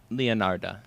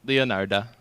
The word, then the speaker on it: Leonarda: said in the intro it's not girl Leonardo yeah Oh I thought you said Leonardo I'm like what no no leonarda okay I just have